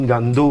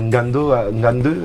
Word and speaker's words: Ngande: Je pense à mon ami Ngande, on aime dire Ngando, mais Ngande, c'est la bonne prononciation.